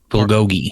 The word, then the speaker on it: bulgogi: How's it pronounced? Bulgogi.